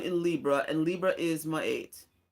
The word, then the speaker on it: Ma'at: Libra and Libra is my eight people will say my art but it's really supposed to be pronounced by eight this is where you